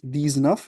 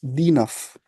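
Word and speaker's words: dix-neuf: अब अगले वाले में न इज not vowel, so इट्स नॉट दीज नफ, इट्स दी नफ।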